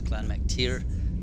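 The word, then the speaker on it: Clann Mac Tire: So it's Clan Mac tier, and that's Gaelic or Irish kind of thing. It's tier, not tire, even though it's spelled tire.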